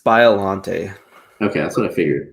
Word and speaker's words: Biollante: pronounced his name properly is it biolante or violante some like that right i think it's biollante okay that's what i